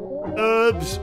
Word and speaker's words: herb: of fishing okay whoa herbs versus herbs i'm pretty sure like the actual pronunciation is herb isn't it because the h isn't meant to be pronounced i think i don't know